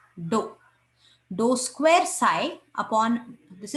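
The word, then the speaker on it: ∂: This symbol is pronounced as dou.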